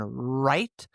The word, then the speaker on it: write: When there's an R right after the W is silent, as in write.